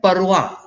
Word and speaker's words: পরোয়া: এখানে শব্দটি কিন্তু উচ্চারণ হবে পরোয়া, আমরা উচ্চারণ করি পরোয়া না, পরোয়া উয়া, ডব্লিউ উচ্চারণ হবে, ও এরকম একটা উচ্চারণ হবে।